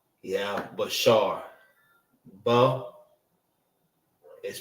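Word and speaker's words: בשר: Flesh and body is Bashar.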